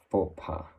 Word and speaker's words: faux pas: It has a little bit of common mispronunciation in English, and depending on whether you're gonna be like really strict with the pronunciation, you can have different results. Yes, in French it would be like faux pas, a little bit of a less harsh sound.